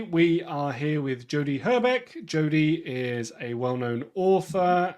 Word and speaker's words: Hrbek: No, and did I pronounce Hrbek properly?